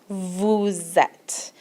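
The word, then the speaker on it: vous êtes: use the Vu form vuzette and you'll hear this little liaison the s the sound of the S goes on to the sound of the e lastly we have in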